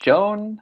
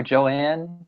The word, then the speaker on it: Joan: I I like uh is it pronounced Joan I think or Joanne Jo I don't know no like j j o a n is that pronounced I hear Joan a lot like Joan of Arc yeah that's my grandma's name Joan Joan like that okay so Joan and